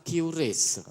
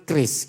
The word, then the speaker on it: QRIS: Pasang aslinya sing betul kan kris gitu loh. Ejaannya kan kris. Tapi kita kan sok Inggris, jadi QRIS.